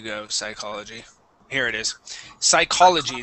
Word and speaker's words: psychology: psychology here it is psychology that's CH is a k sound psychology psychology um this here